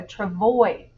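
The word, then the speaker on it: travois: the words to know a travoy s is silent a sled with two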